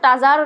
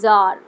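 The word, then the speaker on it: tsar: টিএস এ এর উচ্চারণটা টাজার নয়। জার।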